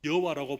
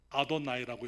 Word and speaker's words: 여호와: 이름을, 여호와 하나님의 이름을 이스라엘 백성들이 여호와라고 말하고 읽지 않고 주라고 읽었었습니다. 아도나이라고 이렇게 읽었더랬어요.